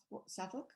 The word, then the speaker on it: Southwark: Southwark.